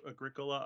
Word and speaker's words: Agricola: We are not here to teach pronunciation. See, I constantly, whenever I talk about Agricola, I always try to make sure that I pronounce it Agricola at least once.